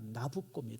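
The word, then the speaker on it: Nabucco: 나오는 노래가 베르디에 오페라 나부코 나부코 그 나부코 바로 느부갓네살을 이제 이렇게 이태리 식으로 발음하면 그게 나코가 됩니다 그래서 여러분들 나부라 하는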